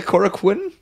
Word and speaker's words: Korakuen: I think you call give me the official pronunciation of it quaaack win quite a con is the Korakuen Korakuen Korakuen cora kono and I got there a little early Rocky's